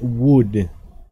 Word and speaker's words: would: vamos a contrastarlo con Wood se pronuncia igual que madera W entonces ambos se